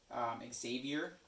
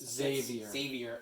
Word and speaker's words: Xavier: But I could see why you would say it like that. Yeah, but come on, Xavier fans. There's no Z in there.